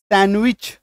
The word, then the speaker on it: sandwich: अभी यहां देखो SANDWICH, डी के बाद क्या है, W, तो डी को काटो, सैंडविच, सैंडविच नहीं बोलना, गलत हो जाएगा, है ना, सैंड ऐसे करके सैंडविच नहीं बोलेंगे, गलत हो जाएगा, सैंडविच, ड